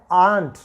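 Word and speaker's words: aren't: एम नॉट का क्या बन जाता है, आंट। ठीक है, इसको एम नोट को आप ध्यान रखिएगा, ये आंट बन जाता है। अंटी वाला आंट है ना, उसी तरह साउंड करेगा, लेकिन ये हम प्रोनाउंस करेंगे आंट।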